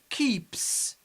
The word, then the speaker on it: keeps: And finally, keeps. Keeps. We pronounce S as S because it's preceded by P.